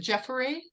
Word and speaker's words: Jeffory: You pronounce it Jeffory, Jeffory, Yes. Jeffory, and Guy Armstrong.